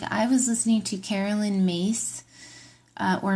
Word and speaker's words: Myss: And the same thing goes, like, I was listening to Carolyn Myss, or Miss, M-Y-S-S. I've heard that her last name is pronounced Mace, but it's spelled M-Y-S-S, who I really like and adore.